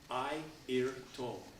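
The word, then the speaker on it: Airto: I'll tell you a little story too about ayto you know ayto this way pronounces it IO it's spelled a i r t o he was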